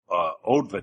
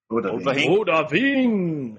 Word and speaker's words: Odahviing: I had to learn a shout called Odva. I can't pronounce this word. Odahviing.